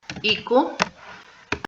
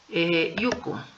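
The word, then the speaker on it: 行く: Entonces, en el caso de iku, recordemos que tiene dos pronunciaciones. Iku y también yuku. Entonces, las dos se van a pronunciar ite.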